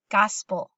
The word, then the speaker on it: gospel: Gospel. And again, that second syllable, that E kind of gets smushed, kind of loses its full sound. So it's not gospel, it's gospel. All right.